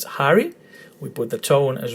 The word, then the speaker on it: Harry: And because the emphasis is on the first syllable in the letter Harry, is not Harry, it's Harry, we put the tone as well in the letter A.